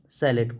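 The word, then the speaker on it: chalet: found in mountain area note down कर लीजिएगा सलेट को मैं य लिख दे रहा हूं सलेट है ना स्पेलिंग भी ध्यान रखना दोस्तों सी एच ए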